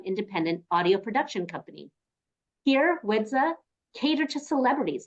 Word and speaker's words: Widza: full name is widza so the D comes before the Z ever since I was young anytime I would say my name is widza and people would see my name on paper they automatically say wizda so I'm like that's not it it's wi the but